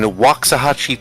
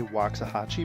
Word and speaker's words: Waxahachie: I don't know if the original is still standing, but the second one is in Waxahachie, Texas, just south of Dallas.